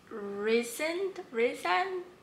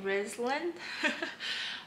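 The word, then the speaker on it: Rhysand: a better villain okay so first of all it's reason here i'll spell it out maybe but i don't know where the l came from because i've been saying risland um two so i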